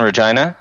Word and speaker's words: Regina: You guys in Regina? Yeah. City that rhymes with fun.